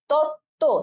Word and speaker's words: তত্ত্ব: আছে, তাহলে কি বলছে যদি এরকম ব থাকে তাহলে ওই ব ফলারও উচ্চারণ হবে না, শুধুমাত্র এই যে যুক্ত বর্ণ দুইটা আছে তাদের উচ্চারণ হবে। তাহলে দেখো আমরা কি দেখলাম, তত্ত্ব, তাই তো, তাহলে তত্ত্ব, ঠিক আছে।